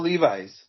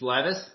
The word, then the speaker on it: Levis: Will Levis. It's Levis. Well, we'll go with Levis. Like Levis. I'm bilingual, so I apologize. I'm sorry. I just learned this week because I was saying it wrong too.